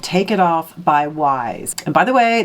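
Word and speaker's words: Wyse: So number one is called Take It Off by Wise. And by the way, that is spelled Y-S-E. I've really been getting that whole thing wrong.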